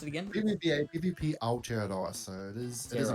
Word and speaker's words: Aotearoa: How do you pronounce it again? PvPA, PvP Aotearoa.